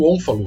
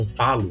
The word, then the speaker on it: ônfalo: Aqui está o exemplo do ônfalo, né? Ou onfalo, né? Depende da pronúncia, né? Tem um acentozinho circunflexo ali.